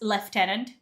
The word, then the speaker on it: lieutenant: That's left tenant. Where's that left? Where is it left from? It's lieutenant. That that L has to be a French word right there, isn't it?